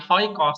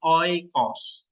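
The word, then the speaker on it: οἶκος: omicron Sigma Sigma nah Bacanya apa oikos bukan hoikos tapi oikos oikos oke ya oikos artinya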